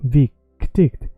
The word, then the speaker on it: viktigt: So it doesn't matter if you say it quickly, you keep the proportion of the first syllable stretched. Viktigt, viktigt, viktigt. So imagine going down and up.